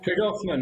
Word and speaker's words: Tregarthen: Jonathan James is a managing director at Tregarthen. I haven't said that right. How do you say it, Jonathan? You're there in Cornwall. Tregarthen, Nana. You're almost I was almost there. Tregarthen.